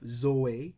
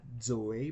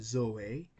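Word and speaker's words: ζωή: If zeta begins a word, it will be pronounced as Z in zero. But if it is in the middle of a word, it will be pronounced as D. Okay? So that's why we have Zoe, not Zoe, but Zoe, and baptizo, not baptizo, but baptizo. Thank you, Athena.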